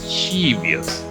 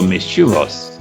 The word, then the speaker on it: mischievous: like he geos maybe mischievous it's actually not chebius it is true it's not shiva so mischievous not mischievous but with sugars so that is